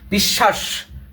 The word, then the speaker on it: বিশ্বাস: এখানে তালবস আছে এর জন্য তালব তোমার স উচ্চারণ হচ্ছে বিশ্বাস বিশ্বাস এখানে স উচ্চারণ হচ্ছে ওকে এরপরে হচ্ছে